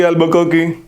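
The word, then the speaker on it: Albuquerque: Alphonso D एल्बुकर्की, spelling बोलना ALBUR, एक बार आप नाम वापस बोलो। अल्फांसो, अल्फांसो DED एल्बुकर्की, QUE आएगा लास्ट में, ठीक है, KARQUE, कर्की।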